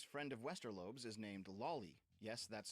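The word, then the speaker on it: Lawly: This friend of Westerlo is named Lolly. Yes, that's spelled L A W L Y and pronounced Lolly which is frankly fitting for what we're about to hear.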